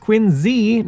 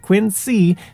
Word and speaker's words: Quincy: As for Quincy, which yes, is pronounced Quinzee, not Quincy, the city is home